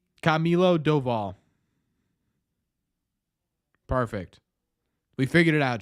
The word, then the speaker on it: Camilo Doval: So Baseball Reference says it's Camilo Doval. Camilo Doval.